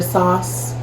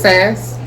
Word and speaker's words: Sass: For a long time, I was calling her Sauce. I pronounced it Sauce ASMR. This is how I like to pronounce it. Getting ready to watch some sauce. Getting ready to watch some sauce ASMR. Some sauce. I think it's Sass. That's how I hear a lot of other people pronouncing it, so I'm sticking with it.